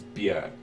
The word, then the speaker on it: Björk: She was asked about her name, and she said it rhymes with jerk. So, her name is Björk.